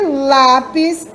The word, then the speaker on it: lápis: E lápis. O lá é mais forte.